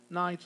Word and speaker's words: knight: in the time of knights. Of course, we are talking about knight with KN, and the K is not going to be pronounced just like knife.